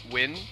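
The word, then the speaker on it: Nguyen: is very frequently silent kind of like how a lot um the common Korean family name win is spelled n-g-u-y-e-n but the energy is more or less silent yeah yeah how is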